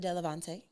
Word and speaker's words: Delevante: Delevante, did I say it right?